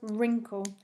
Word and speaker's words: wrinkle: i t e r and number five was wrinkle so w r i n k l e again with that silent w at the start so red greek that's